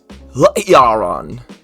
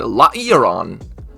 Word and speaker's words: Lairon: And that Pokemon is Lairon. That's how you say it. I'm pretty sure it's how it's spelled. Lairon. Lairon.